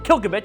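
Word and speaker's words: Klbkch: You humans say we're But the narrator of the audio book pronounce it Kilkovich.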